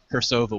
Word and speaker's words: Cirsova: Cirsova with a hard C.